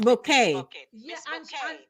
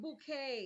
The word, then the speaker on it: Bucket: the English movie with Miss bucket Miss bouet and she pronounced her name bouet yes same so still